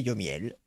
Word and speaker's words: Yomiel: C'est entre Lionel et Johan et Miel. C'est Yomiel.